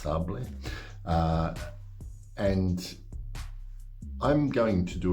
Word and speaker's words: Sables: Some people might read it and pronounce it Sables, but I think in French it's pronounced Sables.